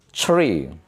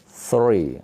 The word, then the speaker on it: three: Tree. Padahal tiga itu bukan tree. Salah ucap salah arti. Tree. Teri itu pohon. Ini tree. Sedangkan tiga three.